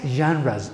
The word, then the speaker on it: genres: And another ugly term, text genres, or the pronunciation of this word is fantastic. Genres is one of the few words in English. It is pronounced with ja at the beginning of the word.